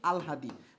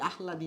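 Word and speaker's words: আহ্লাদি: এই জায়গায় মাসি পিসি আলহাদি, মাসি পিসি আর হচ্ছে আলহাদি। ঠিক আছে, আলহাদি, আহলাদি না। এর উচ্চারণ কি? এর উচ্চারণ হবে আলহাদি, আল আল আলহাদি, আলহাদি। এর উচ্চারণ আহলাদি না, এর উচ্চারণটা কি হবে?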